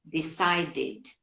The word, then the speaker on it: decided: Otro caso podría ser el verbo decide, decidir. A la ed le agregamos id, decided, ¿ok?